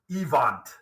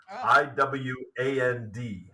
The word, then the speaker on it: Iwand: name is Hans Joachim evant i-w-a-n-d so kind of looks like I wand or iwand um but but he would have pronounced it evant uh as a a good German boy uh so let's just